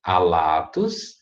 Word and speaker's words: alatus: a sílaba tônica e nessa segunda palavra é a latas proparoxítona como que eu tenho sinal que tá me dizendo que essa sílaba é breve né ela não é longa então a tônica não pode estar ela se a fila para for breve a tônica tá antes então aqui é alatus e na segunda a